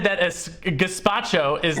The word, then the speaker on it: gazpacho: it's under sink you just said it's a despacho whatever the hell it is it's not a